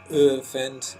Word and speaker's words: geoefend: Geoffend is how you pronounce it.